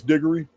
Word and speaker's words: Digory: And it is Digory.